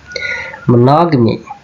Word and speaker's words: monogamy: How this word is pronounced? Monogamy.